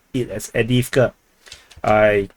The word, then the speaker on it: Avdiivka: So some people tell me to pronounce it as Avdiivka. I pronounce it as Avdiivka.